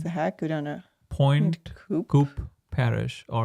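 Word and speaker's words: Pointe Coupee: Go down to Point Coop Parish.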